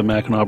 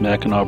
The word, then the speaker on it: Mackinac: a map you'll notice mackinac bridge in mackinac city have two different spellings they're both pronounced the same though with the gnaw sound michigan's tunnel of trees